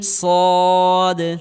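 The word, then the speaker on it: صاد: Scene সদ সদ সদ হরফটি মোটা আকার করে উচ্চারণ করতে হবে সদ সদ সদ হরফটি মোটা করে উচ্চারণ করতে হবে।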